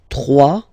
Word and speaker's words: trois: Trois. Final s not pronounced.